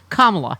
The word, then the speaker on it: Kamala: Look, it's on your T-shirt, Kamala. Yep. Everyone knows it's Kamala. It is not a difficult name to pronounce, and it's a fun name to pronounce.